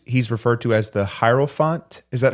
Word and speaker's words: hierophant: in Spanish sometimes he's referred to as the Hyrule font is that how I pronounce that hierophant yeah hierophant um I guess the one who teaches about